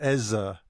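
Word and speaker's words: Eze: Ez. Apparently, by the way, it's pronounced Eza.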